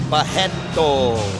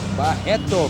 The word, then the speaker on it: Barreto: And the R's in Brazil you pronounce as H, so you will say Barreto. Barreto, Carlon Barreto, 100% Jesus.